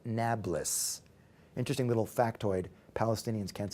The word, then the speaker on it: Nablus: By the way, Arabs can't pronounce P, so they call it Nablus.